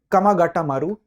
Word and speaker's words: Komagata Maru: जी हां, हम बात कर रहे हैं उस घटना का नाम है कमागाटा मारू प्रकरण या कोमागाटा मारू प्रकरण। दोनों इसको उच्चारण किया जाता है।